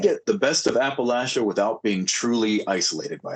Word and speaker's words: Appalachia: But like, you know, I mean, you mentioned that you live in, I want to say Appalachia. Is that how it's pronounced? Yeah.